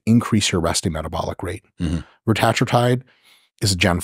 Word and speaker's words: retatrutide: So there's a bunch of them, but I pronounce it retatrutide. Right. You can also say it retatrutide if you want to say like 3 words instead of 1.